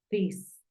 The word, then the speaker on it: this: d como una Z no es tan fuerte como una t porque es un sonido dental entonces tú dices this por lo tanto tú